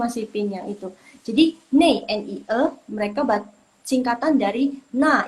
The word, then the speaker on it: 那: Jadi kan nei, mereka suka bacanya nei, kata ini mereka suka bacanya jadi nei, N-E-I. Kenapa? Karena itu singkatan dari yang lo syupin. Na ike. 3 huruf itu mereka baca jadi satu. Nei. Gitu. Jadi kalian kalau misalnya mau kayak bicaranya seperti orang China, kalian baca huruf ini jadi nei.